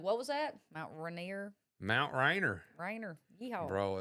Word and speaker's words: Rainier: You said Rainier. He's like, what was that? Mount Rainier.